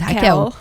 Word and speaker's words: Raquel: Então aqui e o meu bordão é: "Hi, like Rachel but in portuguese."